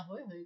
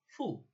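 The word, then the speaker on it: ふ: এই যে হু না হয়ে গেল ফু।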